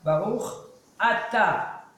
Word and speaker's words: Baruch Ata: Il y en a qui disent Baruch Ata, c'est pas Baruch Ata, Baruch Ata. Parce que si tu dis vite Baruch Ata, ça sort. Chata, c'est un péché.